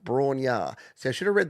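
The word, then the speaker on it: Bron-Yr-Aur: Here's a cover of Led Zeppelin's tune Bror pronounced Brar.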